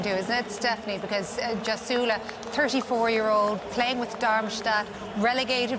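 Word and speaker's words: Gjasula: Either team could have won it in the last couple of minutes, but delighted for Zagula. Is that how you pronounce his name? We're going Jasula.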